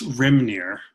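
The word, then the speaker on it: Hrímnir: it it's a it's rim near so just there yeah the h is silent so it's it's it's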